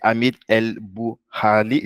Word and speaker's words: Hamid El Bouhali: Donc, Hamid, son nom c'est Hamid El Bouhali. J'avais peur d'écorcher le nom. Est-ce que j'ai bien prononcé Exactement, ton nom?